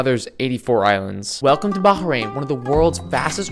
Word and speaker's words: Bahrain: bahrain's population oh yeah make sure you pronounce bahin with an H they don't like it when you don't do that Bahrain island is connected